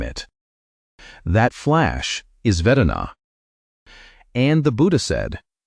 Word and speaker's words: vedanā: The Pali word is vedanā — say it like "veh-DAH-na."